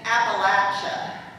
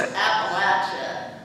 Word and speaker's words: Appalachia: we were living in Appalachia I couldn't even pronounce that right according to normals but it's Appalachia because then shortly after we